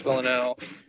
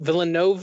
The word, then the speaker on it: Villeneuve: that the writers and Dennis villanelle the villain note Villeneuve ooh-ooh I don't think like I don't think it is an extra syllable well yeah I mean